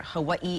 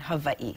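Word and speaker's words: Hawaiʻi: on my mother's side, they're very prominent when using the W, the W sound. So in that sense, they're very similar, and not a wrong or right, just a difference. For example, you can hear Hawaii and Hawaii. Yes. So it's not wrong. Either way, yes.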